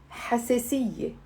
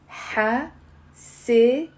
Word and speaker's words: حساسية: Now, the first word today I'm gonna share with you is the word, say out loud with me, حساسية. حساسية. It's 4 syllables.